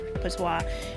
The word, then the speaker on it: Patois: And Patois usually deals with, I pronounced her name wrong before, but it's Patois.